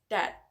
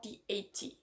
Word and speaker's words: that: For instance, the word that can be pronounced as that, strong form, or dat, weak form.